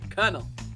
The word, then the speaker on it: colonel: in 2019 we should know that's colonal is pronounced colonel so the winner of the challenge was scarlet